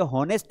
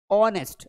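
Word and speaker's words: honest: ऑनेस्ट यह होनेस्ट नहीं है। यहां पे एच साइलेंट इसको हम पढ़ेंगे। देखो यहां प्रोनंसिएशन भी लिखा है। ये सही उच्चारण यहां लिखा है। ऑनेस्ट अगर आपको ये वीडियो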